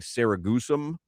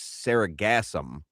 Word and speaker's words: sargassum: But earlier I think I was really making fun of you before Crowder joined for mispronouncing sargassum. And I have been told over and over that it's saragassum.